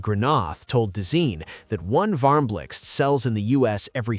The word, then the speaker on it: VARMBLIXT: The VARMBLIXT, yes, that's how you pronounce it, is IKEA's donut-shaped lamp designed in collaboration with Dutch designer Sabine Marcelis.